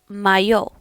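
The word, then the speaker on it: моё: If you have a neutral noun, it is mayo. Mayo. And if you have something in plural, regardless of the initial gender of that noun, you are going to say mai. Mai. Muy, maya, mayo, mai.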